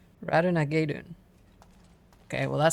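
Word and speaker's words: Ratonhnhaké:ton: Radenhinhakaton. Radenhinhakaton? Hold on. Radenhinhakaton. That's what it looks like it's spelled like. I mean, pronounced like. Okay, but this Reddit post says it's Radunagedun.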